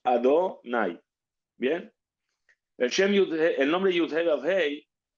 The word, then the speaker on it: Adonai: No lo leemos tal y como está escrito. Y nosotros lo leemos, lo pronunciamos Adonai.